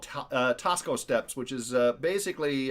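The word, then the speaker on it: Taxco: Uh, and that's Tasco pronounced or spelled T- Axco.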